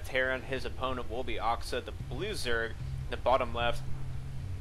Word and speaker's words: aXa: last cast I believe since he's French he would probably pronounce it oxa since there is no a sound in the French uh alphabet anyway let's go and